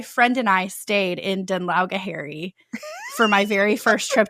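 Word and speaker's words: Dún Laoghaire: whatever and she's like, "Uh, I'm staying in Dunla." And like 100% she's just trying to figure out how to pronounce it. And he laughs at her and he's like, "Actually, it's pronounced Dunli."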